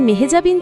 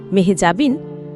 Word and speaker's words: মেহজাবীন: মেহজাবিন জানালেন, আমরা যেভাবে তার নাম উচ্চারণ করি মেহজাবিন, আসলে তা পুরোপুরি সঠিক নয়। তার আসল নামের উচ্চারণ মেহেজাবি, যেখানে শেষের ন আসেই না।